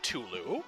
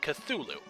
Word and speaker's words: Cthulhu: deity some people say culu and some people say cthulu however upon reading up on the Mythos I found out that the name is pronounced in an alien language and the closest that